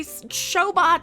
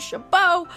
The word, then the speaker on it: Chabot: chabot the woman who appropriated a geek sounding pronunciation for a name to say shobot instead of chabot we will be calling